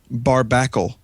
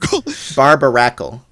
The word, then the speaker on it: Barbaracle: Barbacle. Okay, you are mispronouncing this cuz it clearly says Barb Barbaracle or Barbar Barbaracle. You said you said Yeah, barbarical. You said bar. You said barbacle.